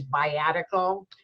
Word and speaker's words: viatical: That word is biatical. That's spelled V as in Victor, I-A, T as in Tom, I-C-A-L.